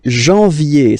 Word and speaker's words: janvier: But anyway, janvier. So that's the way to pronounce it. Janvier. A-N, en. Okay? And then ye.